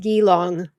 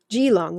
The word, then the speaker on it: Gilong: It's pronounced gillong like gong. Okay. It's pronounced gillong. Gilong like gong.